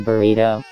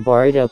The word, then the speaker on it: Boruto: some of the comment why does this MF pronounce their names wrong did you say road to Burrito don't make fun of someone if you make the same mistakes gets pissed at road to boruto content doesn't know how to say boruto dumbass